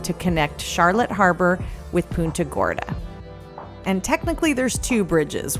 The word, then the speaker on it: Punta Gorda: trail and for the record I know it's pun Gorda Caroline and I laugh because it's one of